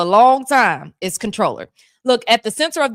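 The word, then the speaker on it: Comptroller: I know Comproller uh Comproller is spelled C O M P T R O L L E R, but it's pronounced controller.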